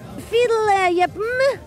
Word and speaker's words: Fierljeppen: Hoe spreek je dat nou uit? Fiedel, jeppen.